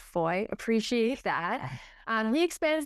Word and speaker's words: Fahie: His name is Von Foy, but it's spelled F A H I E. So he even spelled it out. He's like pronounced Foy.